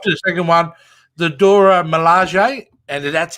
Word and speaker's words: Dora Milaje: And he dropped to the second one, the Dora Milaje, and that's how you pronounce it.